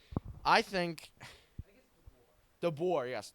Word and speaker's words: DeBoer: I think DeBoer, yes, DeBoer.